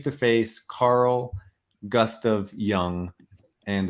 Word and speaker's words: Jung: face Carl gust of young and it's uh young is spelled g u sorry j-u-n-g um Carl Gustav young